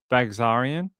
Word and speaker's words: Baghsarian: Baghsarian?